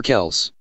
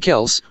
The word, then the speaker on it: Kelce: Ever found yourself wondering if it's Kelce or Kels?